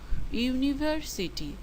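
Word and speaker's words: university: ইউনিভার্সিটি শব্দটি vowel বর্ণ দিয়ে শুরু হলেও উচ্চারণ হচ্ছে কনসোন্যান্টের মতো, ইউনিভার্সিটি। কাজেই হবে আ ইউনিভার্সিটি।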